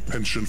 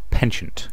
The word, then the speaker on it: penchant: Why is it so many people pronounce that word penchant? Can I just point out it's French, it's pronounced penchant.